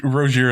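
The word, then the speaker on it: Rozier: That's it's Rosier is correct.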